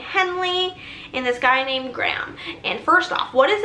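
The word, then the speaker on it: Graeme: Not even that his name is Graham, but it's spelled G-R-A-E-M-E. I would think that it's Graham until she called him Graham Cracker Collins. That's the only way I knew it was Graham.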